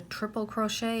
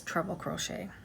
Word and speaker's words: treble crochet: For years I thought it was called a triple crochet, and I do hear people calling it a triple crochet, but the correct way to say it is treble crochet.